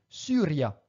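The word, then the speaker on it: Syria: comme dans le mot Suria le y en latin ne se prononce pas i attention mais bien u Suria akentous in lingua latina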